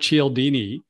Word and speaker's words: Cialdini: name wrong i guess it's is it robert cialdini it is yes i mispronounced it just said it right yes yeah